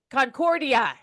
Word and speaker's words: Concordia: Actually, it's Concordia. Concordia.